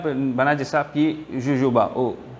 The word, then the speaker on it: jojoba: Mais ça diffé là, il peut prendre dans un pied, ça pied là, on a dit ça pied jojoba, hohoba, comme on a prononcé ça, J-U-B-A. Correct? Hohoba.